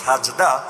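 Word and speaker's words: سجدة: অথচ আরে জিজ্ঞাসা করেন সেজদা এটা কোন ভাষার শব্দ? বলতে তো পারবে না মূর্খ, তাও যদি বেশি পারে তাহলে বলবে এটা আরবি শব্দ। যদিও মূল উচ্চারণ হলো সাজদা, বাংলায় এসে হয়ে গেছে সেজদা।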